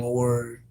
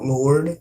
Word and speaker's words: Lore: Just try putting in lore, not Lord, Lore, Lore Chirik.